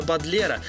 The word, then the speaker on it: Бодлер: Ведь даже фамилию известного поэта Шарля Бодлера она произнесла неправильно, с ударением на первый слог.